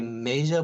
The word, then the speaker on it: Maja: Well, actually, it's going to be Maja, but you can pronounce it however you Major.